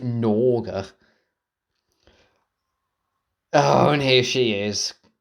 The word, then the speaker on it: Gnorga: When you pronounce it, what's spelled? I would have thought you would pronounce it Norga.